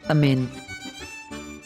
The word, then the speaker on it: אמן: Under the aleph is ikmats, which tells us to pronounce the vowel a, and under the letter mem is the nikud sign that tells us to pronounce an e sound.